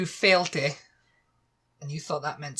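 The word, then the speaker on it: Fàilte: Number 2, Failte, and you thought that meant stop.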